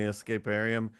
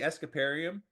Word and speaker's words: Escaparium: Well, actually, I think so I say Escaparium, and Yeah. I think you say Escaparium. Yes. From what I remember from that conversation, both are right. But I'm good. using the French pronunciation and you're using the English pronunciation.